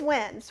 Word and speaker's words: Wenz: with winds and it is winds right yes okay yeah i always say it like seven different ways in my head it's like worcestershire sauce only like the short version yeah it's like it's